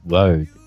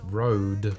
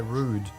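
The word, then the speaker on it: Røde: The company is pronounced Rode. Company is pronounced Road.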